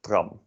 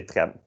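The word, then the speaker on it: tram: would pronounce it as traum but we say trem because it's i think a french word i don't know and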